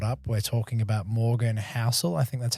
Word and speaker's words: Housel: So for everyone who hasn't caught up, we're talking about Morgan Housel. I think that's how you say it. Is that right, Marty? Correct. Housel, there you go.